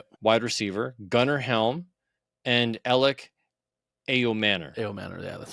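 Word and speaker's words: Elic Ayomanor: Kymir Dyke, wide receiver, Gunnar Helm, and Alec Ayomanor.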